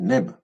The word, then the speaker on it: nb: Et la corbeille, c'est NB, c'est neb.